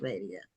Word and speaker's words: Radia: And so, uh, Radio, I think is your name pronounced Radia? I thought it was. Yeah, you pronounced it right.